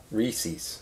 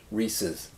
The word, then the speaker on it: Reese's: that word is Reese's Reese's is how you say yeah I say Reese's oh it's a guy's name Reese rhiness his cups Reese's there's a lithography yes